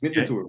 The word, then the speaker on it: Winterthur: So am I saying it right? Winterthur is the area that you're from. I did a little bit of research tonight about the club. Yeah, good job. Yeah, it's Winterthur. Winterthur is the city.